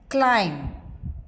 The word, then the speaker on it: climb: as in ball right it is silent when it is preceded by m climb comb or followed by T